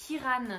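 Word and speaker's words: Ciaran: en fait ça s'écrit siaran mais ça se prononce Kiran il y avait la petite note de bas de page qui fait plaisir donc bref Kiran artos lui c'est le frère du prince du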